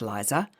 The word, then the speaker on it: Lisa: Exactly 4 weeks ago, there was no Lisa, pronounced Liza.